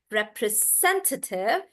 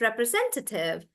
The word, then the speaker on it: representative: So it's on sen, and that's why you pronounce it as representative. And I'm stressing on sen like that, representative, representative.